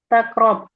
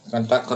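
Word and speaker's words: تقرب: Intakrub jadi bacanya in. Tak. Bacanya intak. takrob. Bukan takrub.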